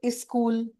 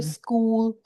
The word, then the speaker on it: school: So, the basic word I can say a lot of people they say "is school". They don't say "school".